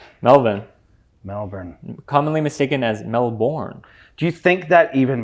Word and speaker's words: Melbourne: even matters that whole you got to say melbour not really yeah I think it's it's Matt um what's his name Matt Damon's fault because he's like the born identity and it's spelled melburn style we're pinning it all